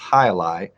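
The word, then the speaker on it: jai alai: it's a crossword staple j-a-i's pronounced hi-li j-a-i-a-l-a-i that's two words and we learned the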